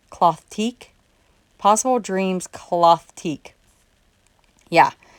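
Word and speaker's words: Clothtique: it's possible dreams and it's spelled c-l-o-t-h t-i-q-u-e cloth teak cloth teak possible dreams cloth teak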